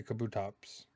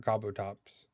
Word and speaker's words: Kabutops: I say Kabutops. But I've heard Kabutops.